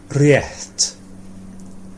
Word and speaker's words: rétt: That's it, with this in front of the t. Rétt. Rétt. Yeah, there's no in it, it's just rétt. Rétt. Yeah, they just breathe out rétt.